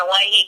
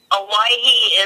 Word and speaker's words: Owyhee: Anyway, it's spelled, Hawaii is spelled Owyhee. It's the original anglicized spelling of Hawaii.